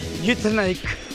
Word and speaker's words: Uitenhage: It's actually Uitenhage, but now we pronounce it as Kariega.